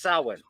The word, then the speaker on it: Samhain: I'm going to tell you right now, as an Irishman, it's pronounced Samhain.